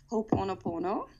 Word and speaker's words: Ho'oponopono: Maybe the pronunciation's different from where we live. I don't know, but I pronounce it as Ho'oponopono.